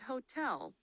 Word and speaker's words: hotel: Some exceptions include asleep, machine, and hotel, which stress the second syllable.